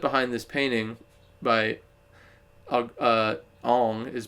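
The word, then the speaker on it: Ingres: The concept behind this painting by uh Ang is pronounced I N G R S.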